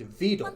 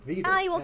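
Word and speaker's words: Vedal: Wait, is that Vet? I'm about to lose it. If If one more person pronounces his name differently, I'm going to crash out. It's Vet. Just because Neuro calls him Vetle.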